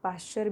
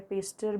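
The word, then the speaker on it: Pasteur: Actual में Louis पेस्टर जो है, अब पास्चर भी कहा जाता है, पेस्टर भी कहा जाता है, प्रोनाउंसिएशन अपने अपने इस पर डिपेंड है।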